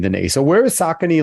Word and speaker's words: Saucony: different uh pronunciations so the correct pronunciation is sock s-o-c-k and then knee like your kneecap saucony saucony in new york it's saucony gotcha so so it's